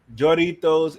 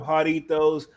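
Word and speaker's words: Jarritos: Some of these YouTubers have pairs and keep calling them Jaritos or Joritos instead of Jaritos, like it's pronounced.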